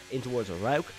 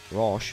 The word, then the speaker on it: Rauch: for the outside in towards Rauch, not Roche, as I was saying earlier. This is why we have a Central European in the commentary box to correct my horrendous mispronunciations, but it is Rauch.